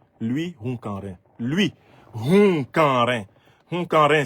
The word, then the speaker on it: Hunkanrin: n'avais pas connaissance, cette personnalité que je ne connaissais pas, c'est un certain monsieur Louis Hunkanrin.